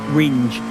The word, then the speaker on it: Ringe: Same spelling, but yes, it's Ringe. As in the second syllable there.